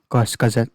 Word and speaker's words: Kurzgesagt: maybe i should say ghost gazette videos i think that's how you pronounce it in german words and they released a